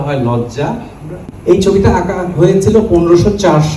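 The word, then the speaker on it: loggia: এল O double G আই A Italian শব্দের উচ্চারণটা হয় লজ্জা এই ছবিটা আঁকা হয়েছিল 1504 সালে মাথার উপর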